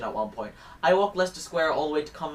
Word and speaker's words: Leicester Square: Sunday I walked from Leicester Square like Chester is how I say it but it obviously wrong we only pronounce like four letters so Leicester Square all